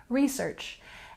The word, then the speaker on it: research: photograph photograph and next we have research with a stress on the first syllable something interesting to note about this word and its stress is that in American English most often we put the stress on the first syllable research and we can use